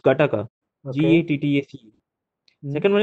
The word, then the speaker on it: GATTACA: It is pronounced Gataka.